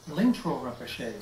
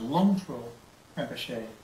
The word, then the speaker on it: Lingtro Rinpoche: Well, as far as modern incarnations that we can connect with, one of them is Lingtro Rinpoche, sometimes pronounced Longtro Rinpoche, who lives in the Bay Area of San Francisco.